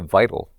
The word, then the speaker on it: Vidl: right and he's like he's like call it vital he's like but don't write it out the way it's spelled VI t a l he's like write